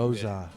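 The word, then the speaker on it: Gose: Goza. Sorry. Nice. Gossel. You're actually allowed to pronounce it either way. Depends on where you're smoked from. goose. It's not goose. Not goose. Goose is not a goose. Goose is a wild beer.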